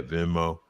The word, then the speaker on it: Venmo: Yeah, Venmo.